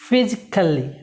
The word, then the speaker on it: physically: সো এটা খ আমরা বলবো, কে না, সি না, এটা কে এর মতো উচ্চারণ করবো, ফিজিক্যালি, ফিজিক্যালি।